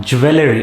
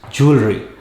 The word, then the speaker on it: jewelry: weigh in pounds next it is not jewelry it is jewelry you have expensive jewelry